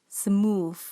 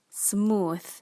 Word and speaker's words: smooth: wednesday wednesday many malaysian will pronounce this word as smooth smooth but the correct pronunciation is smooth smooth in hotel malaysian calls